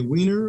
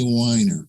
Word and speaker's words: Weiner: as Professor weiner so do you say weiner or whiner I say whiner but thank you for recognizing both pronunciation well Professor weiner was